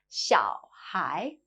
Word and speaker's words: 小孩: 小孩, little child.